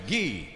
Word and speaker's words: ghee: say he the g is silent what is he not he what is he no it's ghee what is it is